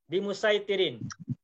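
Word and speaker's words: بمسيطر: Bimusaitirin. Makanya qiraatnya membacanya bimusaitirin, bukan bimusaitirin.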